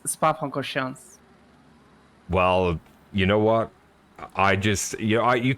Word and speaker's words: Spa-Francorchamps: minutes to go at Spa-du-Francorchamps. I just have to get love that the in. pronunciation. I just have to get that in. This "do" that you'd say, it's not really in there. It's Spa-Francorchamps.